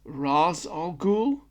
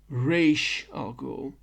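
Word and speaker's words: Ra's al Ghul: And there's two ways to say his name. There is Raz Alhul and R Al Ghoul.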